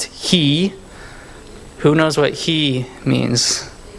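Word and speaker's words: היא: So this was an H, right? And this is E. So this is just pronounced he.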